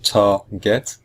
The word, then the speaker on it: target: the end we have two syllables tar get and both syllables are equal target or in fact it's the first syllable if you listen carefully it's the first syllable which is just slightly stronger than the second syllable we say i target